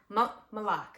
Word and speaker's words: Moloch: really liked I really like malar malar malok malok I'm so sorry guys m o l o